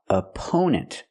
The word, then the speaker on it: opponent: The first syllable is a relaxed uh sound like cup and up. Uh-u opponent. The stress on the second syllable we use a long o sound like no and go for the second syllable oppo opponents and the last syllable is relaxed n opponents.